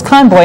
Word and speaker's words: Conboy: Joe Moakley against Martin, I'm embarrassed to say, is it pronounced Conboy? It's Conboy, and this is another one of those races where they've been getting along very well.